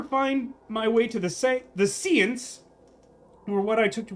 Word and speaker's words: séance: Yes, we all know the correct pronunciation is seance.